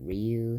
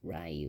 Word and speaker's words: Ryu: The most and Ryu sucks because he doesn't have the Hadouken, Shoryuken, and his name is mispronounced Ryu instead of Ryu, and he's not the main character.